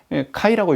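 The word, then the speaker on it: χ: 어 신약 성경이 기록된 그리스도로는 이걸 X라고 읽지 않고 카이라고 읽거든요.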